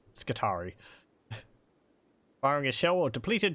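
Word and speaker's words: Skitarii: of the adaptus mechanicus i know it says it'd be pronounced guitarii but uh it's skittari firing a shell or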